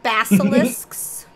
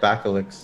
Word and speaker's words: basilisk: Basilisks. That might be the word. Basilisk? Gore-tusks. Gore-tusks. Basilisks? That's what I said, basilisks. You said bacilix.